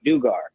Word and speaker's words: Dugar: But real quick, last name is pronounced Dugar.